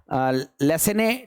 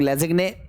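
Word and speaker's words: Lassaigne: तो इस टेस्ट को लेसेने टेस्ट हम लोग कहते हैं, कुछ लोग लेजिग्ने प्रोनाउंस करते हैं, जो भी आप प्रोनाउंसिएशन करना चाहो।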